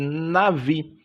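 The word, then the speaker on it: נביא: a palavra chamada de nave Embora esteja com b a pronúncia fica com ver na Nave a nave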